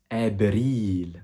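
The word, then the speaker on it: أبريل: Et avril, en arabe, donne abril. Sauf que là, comme tu as pu le voir, on ne prononce pas le V, mais on prononce le B.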